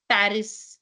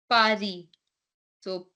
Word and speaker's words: Paris: Paris in French Pari Pari so a is a p a is p r i i is z r is re Pari and S is silent you don't say Paris you say Pari okay how will you